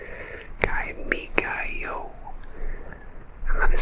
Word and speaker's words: Kimigayo: It is officially called Kimigayo, and that is spelled K-I-M-I-G-A-Y-O.